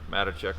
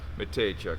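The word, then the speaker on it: Mateychuk: The Yurcheks and Matacek. I'm probably saying that wrong too. I'm not even sure how to say his last name yet. Matejchuk, there you go.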